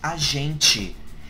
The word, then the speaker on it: a gente: It's like when people say, the correct pronunciation is a gente. Have you ever notice that there are so many, especially Americans, that speak Portuguese like a gente está falando a verdade, and they exaggerate this tch, this tch.